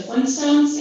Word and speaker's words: Flintstones: look at the title whenever you think of how it's spelled you can spell f-l-i-n-s-t-o-n-e-s but actually if you look at the real title it's flintstones with an extra t but because people don't tend to emphasize the t whenever they're saying